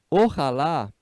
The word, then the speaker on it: ojalá: Essa expressão, ojalá, se usa muito em espanhol.